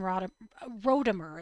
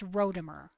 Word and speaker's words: Rodimer: It looks to me like it was just big Dan Rodimer. It's not Rodimer. It's Rodimer. Oh, okay. No, no, no. God, it's Rodimer.